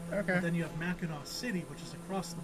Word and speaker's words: Mackinac: I was telling you, I was just like saying it how it's spelled. Okay. But it's pronounced Mackinac.